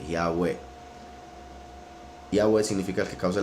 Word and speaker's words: Yahweh: Las 4 letras, como dijo Josefo, se pronuncian como 4 vocales, y esas 4 vocales serían la I, la A, la U y la E, Yahweh.